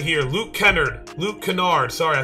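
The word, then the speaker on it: Luke Kennard: it all right here we are right here Luke Kenard Luke Canard sorry I said it wrong Luke Canard this is a really good jump shot right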